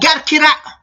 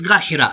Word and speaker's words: Ghar Hira: Even if you tell them that Quran, whatever, they say, oh, gar qira. Oh yes, Ghar Hira. You're a bit there swayed in pronunciation.